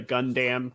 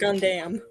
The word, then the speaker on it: Gundam: Javier, for your number one in the Gundam category, you've won That's this how they pie. pronounce it too. They pronounce it Gundam.